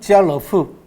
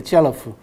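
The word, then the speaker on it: 家乐福: 한자로 가락복이죠. 그죠? 집안의 즐거움과 복이. 그죠? 발음은 지알러프. 그렇게 됩니다. 지알러프. 그러니까 까르푸하고 비슷하죠. 그죠?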